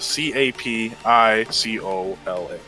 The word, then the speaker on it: capicola: the correct spelling um but how you actually spell it the c-a-p-i-c-o-l-a yeah the thing a lot of people in